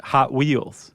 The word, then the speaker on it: Hot Wheels: Hot Wheels. Oh, instead of Hot Wheels? Yeah, the emphasis is on the hot.